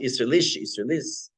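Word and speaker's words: Isserles: He's pronounced Isserlis, from Krakow, Poland.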